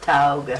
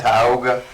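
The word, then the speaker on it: Tioga: in a World Series in I think it's Taiga, Louisiana. How do you say that? Tyogga. Tyogga, Louisiana.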